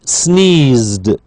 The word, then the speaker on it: sneezed: end so we have she sneezed sneez D sneezed okay simply a d then she decided to